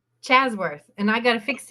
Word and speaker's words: Ashworth: Chasworth. Chasworth. And I got to fix it. Oh, here we I'm go. going to start Let's again. just start over here. Here we go. Yeah, okay. Chasworth.